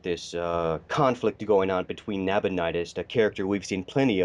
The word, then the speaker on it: Nabonidus: It is pronounced Nabonidus. Nabonidus. Okay, thank you so much.